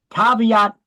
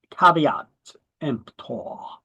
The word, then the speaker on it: caveat emptor: It's not cave. It's caveat emptor.